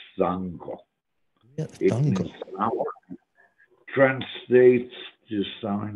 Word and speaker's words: Django: People say Django. That's not the way it's pronounced in Roman. It's Sango.